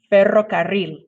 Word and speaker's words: ferrocarril: and say better and then roll your tongue um and if you practice it you might be able to get it just practice a lot you know privately in your room nobody's listening and eventually you might get that let's try it again ferrocarril good job okay